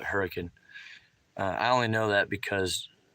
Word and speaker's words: Hurricane: what they call it it's spelled it's spelled like hurricane but um they call it hurricane i only know that